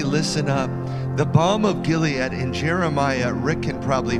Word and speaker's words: Gilead: It says, is there no balm, B-A-L-M, in Gilead, G-I-L-E-A-D, Galeed is how they say it in Hebrew.